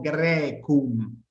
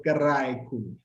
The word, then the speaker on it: Graecum: Graecum. Esto deriva en una pronunciación más tardía en E. Entonces, quienes estén acostumbrados a la pronunciación eclesiástica lo van a conocer como Graecum. Nosotros hacemos una pronunciación más clásica y hacemos Graecum.